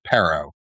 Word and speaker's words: Paro: Paro, like Paro. sparrow without the S.